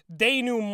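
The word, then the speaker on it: denouement: a mile away collapses the Dumont it's French and pronounced Danon with that last syllable compromising about 42 seconds of actual vocal time god wow I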